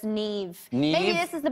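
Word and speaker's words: Niamh: But it's Neve.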